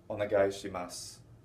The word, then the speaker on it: onegaishimasu: Yet the way I've been pronouncing it, and the way most Japanese people will say this, is gozaimasu, onegaishimasu. They won't say the onegaishimasu or the gozaimasu. They won't put that u on the end very distinctly.